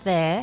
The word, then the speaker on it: there: that in this sentence the word there has a silent R so what you hear